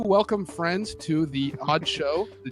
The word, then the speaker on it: (G)odd Show: And this is, for the people who are just joining us, this is the Odd Show, spelled with a G. The G is silent.